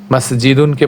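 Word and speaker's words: مَسْجِدٌ: একইভাবে কলামুনকে আমরা পড়ব কলম, বাইতুনকে পড়ব বাইত, মসজিদুনকে পড়ব মসজিদ, বাবুনকে পড়ব বাব, তারপরে জাবালুনকে জাবাল,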